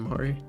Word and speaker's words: Mari: So the trailer opens up and we see Mari. Is that her name? How you say it? Callie and Mari. Yeah, there's Callie and Mari it's calamari.